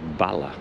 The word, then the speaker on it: Balloch: 3 minutes, and then what I've been calling Balloch, the voiceover lady there said Balla, so I'll listen out on the train for the announcements and see if I'm pronouncing it correctly.